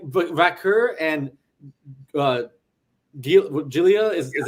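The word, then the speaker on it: Vaquer: them was when Stephanie Valkyria is how you say her name.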